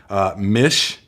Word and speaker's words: Mish: Mish, rhymes with fish.